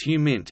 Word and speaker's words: HUMINT: frequently abbreviated HUMINT and sometimes pronounced as HUMINT, is intelligence gathered by